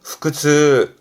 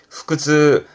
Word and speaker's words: 腹痛: 그래서 발음은 후크즈. 음으로론 후그합니다. 후크. 후크즈.